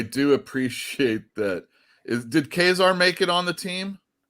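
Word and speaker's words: Ka-Zar: let's get some good quesar action or some people say kazaar yeah it says khazar yeah i mean i think it's i think it's pronounced kazaar and in his own run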